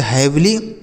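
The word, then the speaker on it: heavily: वी एल एल आई से ली इसे पढ़ेंगे हैवली हैवली मतलब क्या होता है भारी ठीक है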